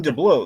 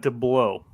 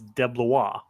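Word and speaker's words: DeBlois: he saying DEA or is he saying deau it's not deau it's not dblo but there but there is an L there is an L in his name but it's debla debla yeah like that that that you're sure that's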